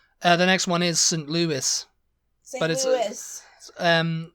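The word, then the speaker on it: St. Louis: you wouldn't think that that was a weird pronunciation you know yeah uh the next one is St Louis St Louis um St Louie yeah I say St Louie because of Louisville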